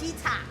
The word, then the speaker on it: Chicha: Cica, bacanya Iya. Cica ya.